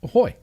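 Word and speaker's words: ahoj: phone is a h o j, which is pronounced aoy.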